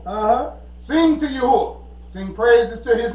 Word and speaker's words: YaHUaH: Sing to YaHUaH. Sing praises to his name. Extol our Father who rides the clouds by his name. YaHUaH.